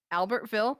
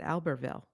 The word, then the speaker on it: Albertville: have an issue because I would pronounce it Albertville. Oh, yeah. Probably we should be pronouncing it Albertville. So before January, we have to get, if you and I have to decide, are we going to use the English pronunciation or the French pronunciation?